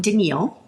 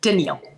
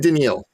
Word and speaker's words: Daniele: um first of all you pronounced my name denil with one L which I answered to Danielle actually so that's okay just so you know yeah Danielle danial like like uh captain and tal but with a d captain and daniil okay I got it but it's not spelled that way but that's how I always help people to pronounce it anyway um so my